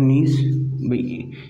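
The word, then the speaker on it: gneiss: उसके बाद अपन बात करें नीस, ये भी किससे बना हुआ है, ग्रेनाइट से तो बना था, मेटामॉर्फिक ग्रुप ही तो है इसका। नीस के मतलब जी साइलेंट होता है इसमें, ठीक है।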